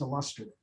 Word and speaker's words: illustrative: I love So that right there is actually a common mispronunciation. Illustrative is actually pronounced illustrative.